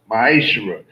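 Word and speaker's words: מעשר: 8-10 which means 10th in hebrew it is pronounced maeshra 10 percent of every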